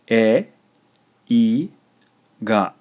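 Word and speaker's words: えいが: This is 3 syllables, and it's pronounced e, I, ga. E, I, ga. Eiga, eiga.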